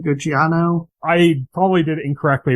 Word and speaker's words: Giacchino: And I saw like, Michael, how you pronounce his name? Gucciano? I probably did it incorrectly, but I said Giacchino.